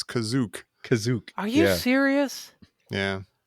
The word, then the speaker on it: Kashyyyk: is that how it wait how is it pronounced well it's kashyyyk for some reason the one time you hear it in this the guy says kazook kazook are you serious yeah yeah sorry no